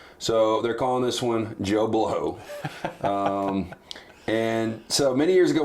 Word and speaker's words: Bleau: And he would say Joe, and he would spell it B-L-E-A-U. Love it. But it would be Joe Bleau.